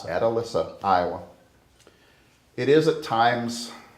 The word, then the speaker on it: Atalissa: It's Atalissa, Iowa.